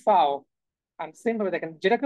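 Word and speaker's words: Vau: সেগুলোর ক্ষেত্রে হচ্ছে আপনি ফাও হ্যাঁ তো ফাও কে বলে হচ্ছে কি ভি হ্যাঁ ইংলিশে আমরা বলি হচ্ছে ভি তারা বলে হচ্ছে ফাও এন্ড সেইম ভাবে দেখেন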